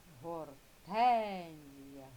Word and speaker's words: Гортензія: Гортензія. Гортензія. Так, наголошений склад тен. Да, з більшої сили голосу вимовляється. Тому зверху поставили ось таку рисочку. Це означає наголошений склад, який вимовляється з більшою силою голосу.